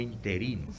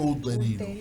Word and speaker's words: uterino: Dominicana, que tienen fuego interino. Fuego interino. Sí, ¿te he escuchado eso? Fuego uterino. Ellos dicen interino Sí, porque pero no es- saben Porque no lo uterino, pronuncian no saben correctamente.